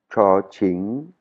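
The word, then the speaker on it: ฉ ฉิ่ง: La deuxième lettre, Cho-ching, Cho-ching, c'est pareil, hein, c'est la même prononciation. Donc ça, ce sera codé par un CH.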